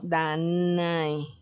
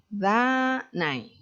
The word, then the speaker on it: Danae: En poesía se puede dar perfectamente esto de la sinéresis, que también es muy usual, súper usual, como Danae. Danae, dos sílabas.